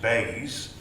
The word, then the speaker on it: BEIS: DEC have just been morphed into a new government department, which is pronounced BEIS.